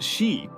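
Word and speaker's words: 四: The number 4, pronounced shi, sounds like the word for death.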